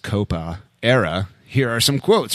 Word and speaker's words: Coppa: Winning games again and being undefeated in the Italian Capo, pronounced Coppa, era.